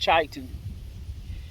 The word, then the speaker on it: chitin: is chitin c-h-i-t-a-n titan so i've heard it pronounced titan but it's the it's